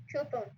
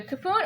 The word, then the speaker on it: coupon: Coupon. Yeah. Yeah, good. So you can say Q or you can say Ku. It's both are good. So coupon or coupon or coupon. So basically are the three pronunciations.